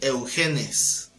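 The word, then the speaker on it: εὐγενής: Se dice eugenes.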